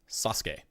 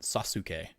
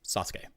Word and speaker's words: Sasuke: I'll type this name like that name is pronounced Sasuke like not Sasuke it's just Sasuke and that isn't pronounced OSU it's just o